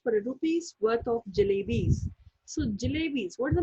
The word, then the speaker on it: jalebis: a rupee's worth of jalebis. So jalebis, what is the meaning of jalebis? It's a sweet in a shape of coil. And the jalebis is a word that has 3 syllables.